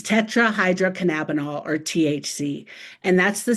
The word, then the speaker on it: tetrahydrocannabinol: If we were in person, I would throw you a candy if you could pronounce this word. It's tricky. It's tetrahydrocannabinol, or THC, and that's the substance that's primarily responsible for the high effect that people get.